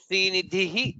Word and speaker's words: श्रीनिधिः: Srinidhihi, Dha is Mahaprana, followed by Shri Vibhavanaha, Bha is Mahaprana, Srinidhi Shri Vibhavanaha.